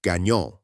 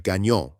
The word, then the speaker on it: Gagnon: Gagnon, still one of the most recognizable Quebec names, sometimes stayed Gagnon and got pronounced with a hard American G instead of the soft French one.